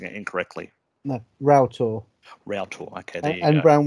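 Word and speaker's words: Roughtor: and uh in bodman and i think it's pronounced rough tour i'm probably pronouncing it incorrectly no route or real talk okay and brown willy um basically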